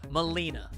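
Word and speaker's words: Malina: Molina. Okay. Like the Mortal Kombat character, but less terrible.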